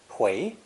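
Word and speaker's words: 回: swirling round and round it's pronounced second tone hui means to return go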